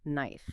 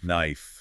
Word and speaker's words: knife: of words like knife you don't pronounce the k at all it's just knife knife knife yeah yeah that